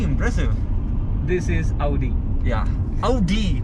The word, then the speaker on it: Audi: Yeah, Audi, not Audi. Please don't mispronounce it, guys. This is Audi. It's pronounced Audi.